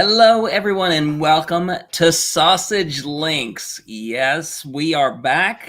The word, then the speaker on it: SASG: this is sausage links S A SG yes pronounced sausage stands for the self